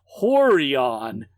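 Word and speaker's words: Rorion: UFC was a Brazilian jiu-jitsu teacher named roron pronounced horon Gracie Grace thanks for spelling that out for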